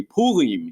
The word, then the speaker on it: Purim: that word mean purim if we say it like uh in a in a good and my wife's israeli so she would say pulim you know in her best world are kind of that french style but anyway lots of